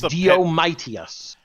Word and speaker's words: Diomedes: Well, that's because if you didn't, you'd pronounce it Diomedes or Diomedes. Yeah, but it's Diomedes.